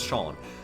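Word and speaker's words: Seam: They're called CM but pronounced Shawn.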